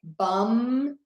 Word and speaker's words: bummed: Bummed, ends with a D. Bum, B-U-M, and then add a D.